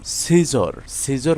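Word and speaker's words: scissors: এখানে এস সি থাকায় সি এর উচ্চারণ হয়নি। সেন্ট অর্থ সুগন্ধি। সিজর সিজর অর্থ কাঁচি দিয়া কাটা।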